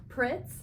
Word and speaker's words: Pritz: Pritz. Pritz, thank you.